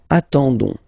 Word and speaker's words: attendons: nous, so O-N-S, okay, you don't pronounce the S, so you get only this on sound, okay. Attendons, nous attendons, so we'll make the link between the two, la liaison.